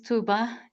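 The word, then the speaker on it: Tuğba: and tuba hi everyone my name is tuba G is a bit um confusing but it is silent U I knew this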